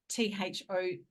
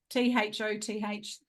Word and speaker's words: Thoth: So he channels, I can never say his name, but it's Thoth, Thoth. How do you pronounce it? Not like Thor, Thoth.